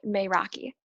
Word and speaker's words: Meraki: into your work and we pronounce it may rocky it's a community designed